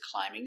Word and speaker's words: climbing: When you have extra letters after it looks like being, but remember the B is silent. It's not climbing, it's climbing. The boy is climbing a tree right now.